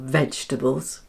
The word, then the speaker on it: vegetables: Notice how the E after G is silent.